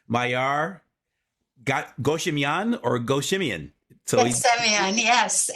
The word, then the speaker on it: Ghassemian: So Ghassemian, yes. is It's it three pretend syllables? there's no H in the first or the last name. Huh? Pretend there's no H in the first or the last name.